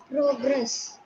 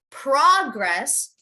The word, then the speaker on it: progress: p-r-o-g-r-e-s-s you know uh progress yes so noun would be you would have wanted to emphasize the beginning so you would say progress progress i'm making some progress